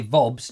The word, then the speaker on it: Vobes: Dave Ford says you don't pronounce the E in Vobes. Sort of. Well, yes. Well, no, you don't. But you don't say Vobes, do you?